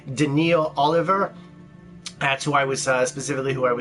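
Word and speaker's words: Daneel: Denny or something like that it's Daniel it's pronounced daniil Oliver that's who I was specifically who I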